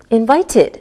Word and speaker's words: invited: When the last sound of a word is a D or a T sound, we pronounce the ED like id. Listen again. Invited, invited, so it sounds like ID.